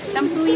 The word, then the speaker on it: Tamsui: kami dito sa tamsui Tams tamsui tamsui Okay tamsui talaga ang pronunciation niya ganun ta's ang daming ano dito